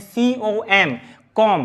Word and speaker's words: comb: कॉम भी लिखा है, COMB, तो यहां पे बी साइलेंट होता है, क्या होता है, बी साइलेंट होता है, तो इसको पढ़ते हैं COM, कॉम, क्या बोलना है, कॉम।